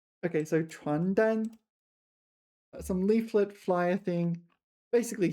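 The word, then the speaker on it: 传单: not to get here you need to really pay attention to your pronunciation because there's also 床单, 床单. This is bed sheets. 床单, 床单, and the other one was 传单, 传单, and they're completely different things, right?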